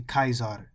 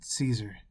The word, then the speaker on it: Caesar: days of claudius kaiser now that's the proper way of saying um caesar it's actually kaizad not caesar all right they didn't really pronounce it like that it sounded like kai kaizar and disciples every man